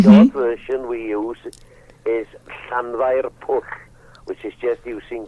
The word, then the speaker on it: Llanfair: And the abbreviated, the short version we use is Llanfair Pwll, which is just using the first part of the name.